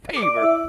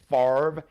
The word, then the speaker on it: Favre: Boys Brett Favre I used to call him favor they couldn't pronounce his name when he first came into the NFL draft day I said uh drafted by the Atlanta Falcons Brett Favre is actually pronounced farv f-a-v-r-e anyway so he went on to have